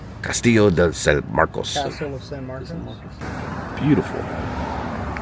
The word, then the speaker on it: Castillo de San Marcos: Castillo de San Marcos. Castillo de San Marcos.